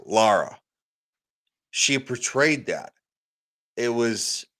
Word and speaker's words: Lara: said it wrong it's Lara Lara thank you laa so many people say Laura it's not Laura there's no you it's